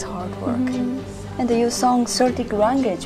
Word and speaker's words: Celtic: And you sung Celtic language, right? Celtic language. The Celtic. Yes. That we pronounce it Celtic.